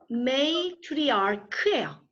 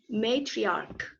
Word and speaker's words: matriarch: 발음이 어떻게 돼요? matriarch예요. 되게 어렵죠 발음이. matriarch. matriarch 그러지 마시고요. matriarch. 크 발음이에요.